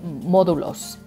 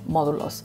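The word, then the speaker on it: módulos: to ask for these testing sites they're called modulos think modules modulos but you can also say kioskos like kiosks right um so you can use modulos or kioskos and people will know what you're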